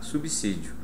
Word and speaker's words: subsídio: da fonética ou seja se depois do sub vier a letra s o som não é dizer como você acabou de comprovar por exemplo em três palavras tradicionais portanto habitue-se a subsídio pronúncia normal como se diz subsa ou como se diz subsolo perfeito até aí pronto